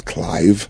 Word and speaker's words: Clive: My name is not Clyde, it was Clive. Clive, like Clive Davis.